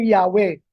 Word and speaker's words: Yahweh: mga Hebrew scholars na ang tamang bigas ay ay Yahwe.